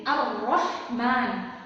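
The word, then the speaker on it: الرَّحْمٰن: Jadi ketika kita mendapati suatu huruf yang terdapat tanda tasydid seperti ini, maka kita harus membacanya dengan menekan. Jadi Ar-Rahman, Ar-Rahman.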